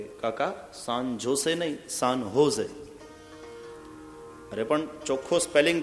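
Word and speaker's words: San Jose: तो अमे सुधार्યું કે કાકા सान जोसे नहीं, सान होजे। अरे पण ચોખ્ખો સ્પેલિંગ છે SANJOSE, सान जोसे। सॉरी काका, ज ने ह प्रोनाउंस करवानो, सान जोसे नहीं, सान होजे एम बोलवानो।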